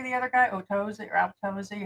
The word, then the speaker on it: Atozy: Otosi or Totosi. How do you say the other boy? Atosi. Okay. Atosi.